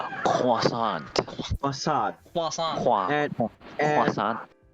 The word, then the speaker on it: croissant: that Hey, you yeah, guys are saying it wrong. It's a croissant.